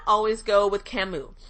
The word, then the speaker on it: Camus: If not, always go with Camus. Camus is really wonderful, but it's spelled C-A-M-U-S, by the way, just so you know.